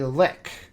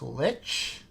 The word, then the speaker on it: lich: of, and now I'm quoting the DM, a lick. And we're like, a lick? What the fuck is a lick? You know, a lick, an Lich. And we're just like, that's pronounced lich?